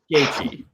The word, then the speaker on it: Gaethje: It's Gaethje. I'm never going to get I know, but just move on. Pretend I said it right. If you keep saying Gaethje, then a malformed Justin Gaethje clone.